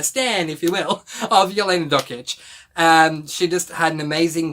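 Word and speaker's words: Jelena Dokic: So her name is pronounced Yelena Dokic. So Yelena Dokic, this is an adult memoir, by the way, adult non-fiction memoir.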